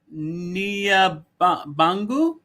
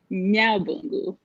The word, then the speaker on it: Nyabungu: Nia Bangu? I apologize if I... Hello? Yeah, you butchered that. I'm sorry, how do you pronounce it? Nyabungu.